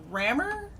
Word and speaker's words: Rammur: because of your comic is it rammer that is pronounced correctly yes i'm happy that i